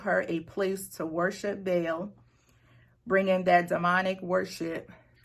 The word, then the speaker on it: Baal: I'm sorry, you pronounced his name wrong. She worshipped Baal.